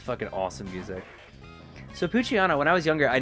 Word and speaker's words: Poochyena: So I just, like, didn't even register what the fuck it was meant to be. I guess you should probably pronounce it like Poochyena, right? But that sucks.